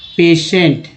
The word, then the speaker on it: patient: एक वर्ड ले लेते हैं PATIENT, क्या उच्चारण होगा? पेशेंट, ठीक है, पेशेंट उच्चारण होगा। इसमें लास्ट वाला टी जो ट है ना उच्चारण हो रहा है, पहला PA को पे